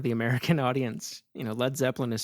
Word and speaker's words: Led Zeppelin: You know, Led Zeppelin is spelled the way it is because they thought the audience would pronounce it Lead Zeppelin in the US, right?